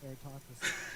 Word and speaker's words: Eratosthenes: I don't know how to pronounce that. Pardon. Eratosthenes? Sorry, Eratosthenes.